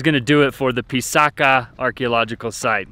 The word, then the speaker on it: Pisac: All right, guys, that is gonna do it for the Pisaca archaeological site. It's Pisac, but they call it Pisaca, the indigenous people.